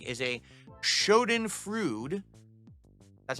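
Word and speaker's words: Schadenfreude: time following someone you don't like is a Shen frud that's how you pronounce it I know what the word means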